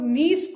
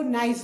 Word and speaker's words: niece: Students, please keep in mind, maximum of you pronounce this word incorrectly. Aap log niece ko nice bolte. N-I-E-C-E is niece. Koi bhi isko nice nahi bolega.